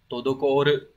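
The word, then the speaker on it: 滞る: Chữ trệ sẽ đọc là todokoru.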